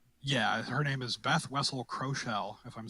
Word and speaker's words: Kroeschell: Beth Wessel Kroschel, or Kroschel. It's Kroeschell, for those of you out there with the Googles.